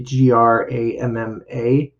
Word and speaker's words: grandma: And actually, grandma, you don't hear the D. It's actually Gramma is the sound, but we spell it grandma, Grandma.